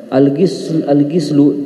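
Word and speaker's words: غِسل: Al-gislu dengan kasrah adalah maknanya ismun lima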